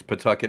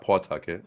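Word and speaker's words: Pawtucket: it's centry not centry it's Pucket not pcket yeah it's Pucket not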